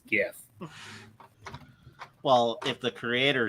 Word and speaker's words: GIF: to be all ironic and says no it's Jeff no it's gif well if the Creator says it then I'm